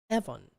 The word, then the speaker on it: Evans: it was like oh she probably pronounced it with the British accent as Evon and so they heard it